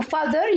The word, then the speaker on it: father: Father يعني بابايا بابا. الـTH هنا بننطقها ذ ذ ذ.